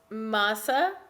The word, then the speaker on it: Mahsa: no no worries um so it's masa it's the tarzan it's